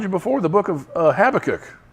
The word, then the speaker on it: Habakkuk: And his answer to Habakkuk, or Habakkuk, how it's supposed to be pronounced, is don't worry about it.